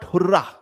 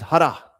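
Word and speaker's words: hurrah: It's not hurah. Okay. In Punjabi if you call it then you can say hurah but that is the wrong pronunciation. Okay just to make you understand it is har. Har we won the series.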